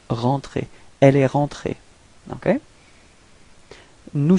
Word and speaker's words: rentrée: okay, but then rentrée, you can see that you don't pronounce this final e, it's rentrée.